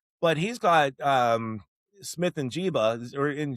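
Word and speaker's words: Njigba: and yeah, but he's got Smith and Jiba or in Joba. How do you say his name? The wide receiver for the Smith Seahawks. and Jigba.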